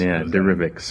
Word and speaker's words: Derivix: Derivix is correct. Yes, it is a derivative of derivatives. Yeah, Derivix.